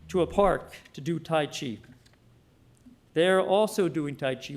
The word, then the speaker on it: tai chi: calligraphy and this triggered other interests of course tai chi and ken always corrected my pronunciation tai chi and then he developed and became ever deeply